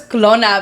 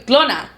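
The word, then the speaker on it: Qlona: oh my God I thought it was Kona because it's spelled Q L O N I know but I when I first read it I thought it said Kona I mean clona so funny what yeah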